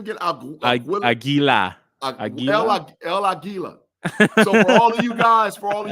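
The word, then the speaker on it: El Águila: El Aguila.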